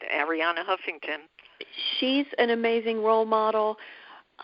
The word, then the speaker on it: Arianna Huffington: Am I sometimes I mispronounce her name. No, you're right. Ariana Huffington.